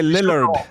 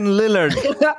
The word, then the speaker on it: Lillard: Le double L en anglais se prononce I. C'est trop. Non, mais c'est bon, ça passe. Non, en anglais, c'est Lillard.